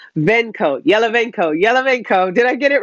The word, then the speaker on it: Yalovenko: Now, I'm not good with my Russian, so I'm going to try and make sure I pronounce his name properly. It's Artem Yalovenko. Yalovenko.